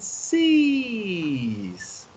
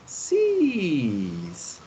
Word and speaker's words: six: opens their eyes and sees something you see it's like the english word sees like the verb to see he she or it sees third person singular you see that so tina okay sees and when you say